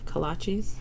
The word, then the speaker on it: kolaches: Kolaches.